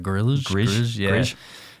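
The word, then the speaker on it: Grlj: Sam Grill or Sam, it's G R LJ. I think it's like Gorill, he played for Richmond the weekend got 90.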